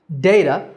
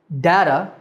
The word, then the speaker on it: data: But there's some debate about the correct pronunciation, because there are 3 ways that people say this word. data, which is the way that I said it, data, and even data.